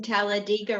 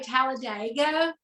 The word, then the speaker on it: Talladega: know I was pronouncing Talladega wrong most people say Talladega but people that are from there say Talladega like digging up something so that's where NASCAR